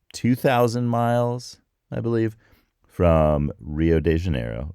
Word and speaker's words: Rio de Janeiro: miles I believe from Rio de Janeiro or hi de Janeiro that for all of you listening in Brazil tell me if that sounded a little bit right I'm practicing so yeah